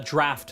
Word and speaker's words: Draught: The Draft of Lucidity is how that's pronounced.